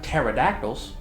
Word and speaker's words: pterodactyls: Sunwings, robot pterodactyls. You know, the ones that you can't hear go to the bathroom because the P is silent.